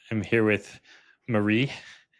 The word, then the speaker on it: Marie: I'm here with Marie. Is that the correct pronunciation? It's not Mary. Yes, like Marie Osmond.